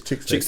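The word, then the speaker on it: Chix Tape: Is it Chicks Tapes or Shy Tapes? It's Chicks Tapes.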